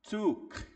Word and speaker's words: took: no idioma é que toda vez que você vê esse esses dois o aqui, você geralmente vai fazer um som mais de u e vai dar uma esticada tok.